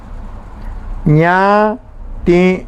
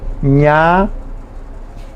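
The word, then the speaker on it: ñati'ũ: Ña-ti-u. Ña-ti-u. La U es nasal, o sea que lleva la virgulilla. Ña-ti-u.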